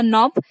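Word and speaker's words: knob: पतंग पतंग किटनोद है के एन ओ बी लेकिन इसका प्रोनाउंस एशन होगा नॉब यानी कि दस्ता घुमट किं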